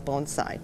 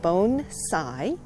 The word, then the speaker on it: bonsai: all the time and they say what is bone side but usually they don't say it like that they say what is bonsai and then so first we have to say okay it's pronounced bone Tsai and that's your first lesson I think because